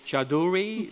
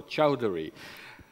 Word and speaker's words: Chowdhury: own campaign staff in how to pronounce his last name Chowdhury vote for Jay Chidori no Chowdhury and he started knocking